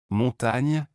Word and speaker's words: montagne: En français, la combinaison GN correspond au son ENE en espagnol et se prononce comme NI dans le mot anglais canyon.